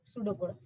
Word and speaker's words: pseudocode: P is the silent here, pseudocode.